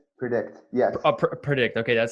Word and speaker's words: PredIQt: And by the way, for people who might be listening to the podcast, it's spelled PREDIQT. So predict.